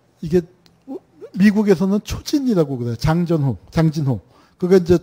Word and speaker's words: 장진호: 장전호, 장진호. 그게 이제 저 일본 지도를, 일본이 만든 지도를 영역해서 그 일본식 발음으로 되어 있는데 저 초진이라는 제목으로 책이 미국에서 수십 권이 나와 있습니다.